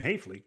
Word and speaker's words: Haefele: Tonight, we've got a big ITSL game for you as team Illinois's own Derek Miller takes on Maryland's Jim Hafley, which as you know rhymes with safely.